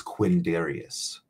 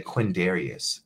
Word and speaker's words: Quindarius: the time you know my full name is Quinn Darius right and that sounds pretty easy to say quindarius right you have no idea